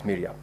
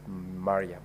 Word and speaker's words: Mariam: that in your contributions you made reference to the distinguished SC Omar shik Mariam as Miram I'm very sure that is because of where you come from otherwise the name is pronounced as maram thank you very much